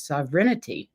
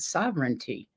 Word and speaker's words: sovereignty: show on spiritual sovereignty do you know I have pronounced this wrong my entire life I've always thought it was sovereignity not sovereignty who knew dyslexia I